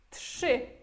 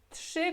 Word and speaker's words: trzy: Olha que a gente pronuncia esse RZY como J. Aqui, como temos T, temos trzy, como se fosse sh, trzy, ok?